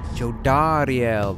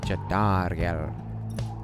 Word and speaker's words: Jodariel: Jodariel, that's how you say her name. Jodariel.